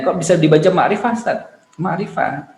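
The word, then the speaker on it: معرفة: Ma'rifah, bukan mi'i rofah gitu enggak, atau ma'rofah enggak, ma'rifah.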